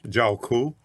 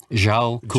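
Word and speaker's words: Djwhal Khul: By a Tibetan master, and how do you pronounce his name? Zhao Ku. Zhao Ku. Zhao Ku.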